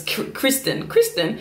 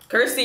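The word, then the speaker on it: Kirstin: Remember in the beginning of Pentatonix when I tried to, like, when I was reading their names and this Kristen, and y'all went, Kirsty, it's Kirsty, it's pronounced Kirsty, and y'all went at me.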